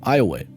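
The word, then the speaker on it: Iowa: And yes, unlike the actual state, this town in Louisiana is pronounced Eyeway.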